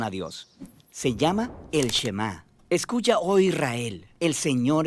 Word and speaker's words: Shema: La primera palabra del Shema es oye o escucha, y en hebreo se pronuncia Shema.